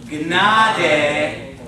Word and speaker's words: Gnade: You pronounce the G and the N, okay? So let's say it together. O Gnade Gottes, and then that W is going to be like a V.